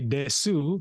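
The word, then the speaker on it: です: If you want to learn Japanese, I know it's spelled alphabetically desu, but we always say Japanese. I believe it's des.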